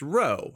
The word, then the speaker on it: rho: This P is actually pronounced rho, and if you don't like that, you can blame the Greeks.